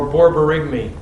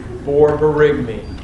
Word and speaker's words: borborygmi: Would you have paralytic ileus or borborygmi?